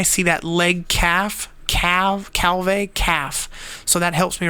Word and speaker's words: Calvé: these disease look here calve a or a cow you pronounce that it looks a lot like calf and that helps me